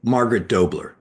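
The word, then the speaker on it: Margaret H'Doubler: How do you pronounce her name? Margaret H. Dubler? Mark Margaret Dobler.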